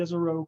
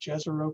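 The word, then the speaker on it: Jezero: what you're seeing now this is called the yzero crater or if you watch nasa coverage jezreel craters what they use a lot i go with the american pronunciation uh and uh there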